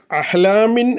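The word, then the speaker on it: أحلام: നമ്മൾ അവിടെ മുഴുവനായി പറയുന്നില്ല അഹ്ലാമിൻ എന്നുള്ളത് ശരിക്ക് കസറ തൻവീൻ ആണ് മിൻ എന്നുള്ളിടത്ത് ശരിക്ക് ഒരു സുക്കൂനുള്ള നൂനിന്റെ ഉച്ചാരണം വരുന്നുണ്ട് പക്ഷേ ആ നൂന് നമ്മൾ അവിടെ കളയുകയാണ് മറിച്ച് ആ സുക്കൂനുള്ള നൂൻ ബാഹ് എന്ന അക്ഷരമാക്കിയിട്ട് മാറ്റിമറിച്ചിട്ടാണ് നമ്മൾ ഉച്ചരിക്കുന്നത് ഇതിനാണ് ഈ നിയമത്തിനാണ് ഇഹ്ലാബ് എന്ന്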